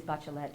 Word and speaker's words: Bachelet: explain that in Spanish these what look like French names and they are originally French names but they are pronounced in Spanish so it is bachelet and Pelt and I'm